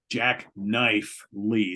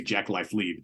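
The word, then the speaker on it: Jacknife Lee: got uh Jack Jack Jack knife Lee it's always hard to say his name because you want to say Jack life lead jackknife Lee uh as the producer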